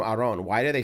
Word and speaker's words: Aaron: even gave up like my first name technically should be pronounced aron but even my family like they just gave up they're like we're tired of correcting people it's just aaron it's just aaron like